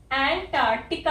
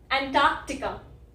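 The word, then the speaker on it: Antarctica: अब कुछ लोग इस वाले सी को साइलेंट बोलते हैं, ठीक है, एंटार्कटिका, एंटार्कटिका। फर्क देखा? फर्क यही है जो मैं ये वाला सी कुछ लोग बोलते हैं, कुछ लोग नहीं बोलते।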